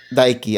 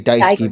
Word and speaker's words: Daiki: Daiki. I was going to say Daisuke, but I think that's a different word altogether.